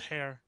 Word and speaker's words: Heir: pronounce your last name I pronounced hairir okay yeah even though it's SP like air it's pronounced hair I was not sure